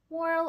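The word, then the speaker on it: morale: Это moral. Ударение на а. Моральный дух. Близко по значению к французскому мораль.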